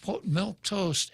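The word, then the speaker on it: milquetoast: no flavor whatsoever but instead of being spelled m-i-l-k it's spelled m-i-l-q-u-e toast but it's it's a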